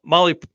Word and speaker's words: Mahle: And for the podcast listeners and everybody else out there, Molly is spelled Mahle when you're doing that search.